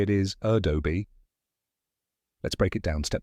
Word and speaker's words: Adobe: Then do, which rhymes with go. And finally, bee, like the buzzing insect. Now say it with me. A-doh-bee.